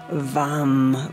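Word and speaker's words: वं: your one cable Sanskrit Mantra is vam with a V visualizing that happy orange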